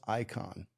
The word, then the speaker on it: Ikonn: So what I adopted was, I had a guy named Alex Icon. It's spelled Aikonn.